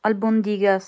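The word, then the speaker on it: albóndigas: Albondigas. C'è l'accento sulla prima O, quindi albondigas.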